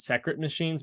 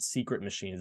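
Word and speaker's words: Sekret Machines: book is actually called secret machines it's the way that it's spelled that made me think it was pronounced that way it's s-e-k-r-e-t secret but secret actually secret machines um in reference to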